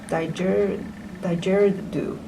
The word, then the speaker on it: didgeridoo: Didgeridoo.